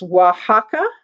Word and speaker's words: Oaxaca: um from uh now you guys got the pronunciation of it it's oaxaca okay mexico is where this is from okay so this um beautiful beautiful black pottery vase is 24.